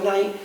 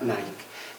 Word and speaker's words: Nike: símbolo en la marca Nike. Todo el mundo pronuncia Nike, pero evidentemente está reproduciendo la palabra griega Nike, que significa victoria.